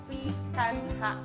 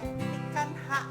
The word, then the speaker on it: picanha: Jadi kalau kalian Sase Lover denger tuh namanya pikanha, bukan denger ya, tulisan namanya pikanha, tapi kalau dibacanya kita mesti ikut-ikut kayak orang Brazil gitu ya.